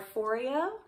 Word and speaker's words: Foreo: So first things first, I like to use a PMD facial cleanser or a Foreo, rhymes with Oreo.